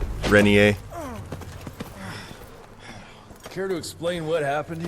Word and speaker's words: Rentier: You're Jesse Rentier, sir. Splendiferous. He's actually saying it correctly. Rentier.